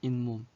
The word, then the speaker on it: 잇몸: 잇몸. 그래서 요 니은 미음 앞에서 여기서는 미음 앞이네. 미음 앞에서 니은이 덧났네. 니은이 추가됐네.